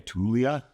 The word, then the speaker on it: Taulia: And how do you pronounce his name? Taulia How do you pronounce your last name?